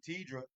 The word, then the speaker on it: Tedra: Pronouncing it. It's the way it's spelled. Tedra.